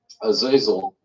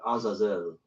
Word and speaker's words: Azazel: And this This imagery is also tied with Azazel, who, we just finished Yom Kippur.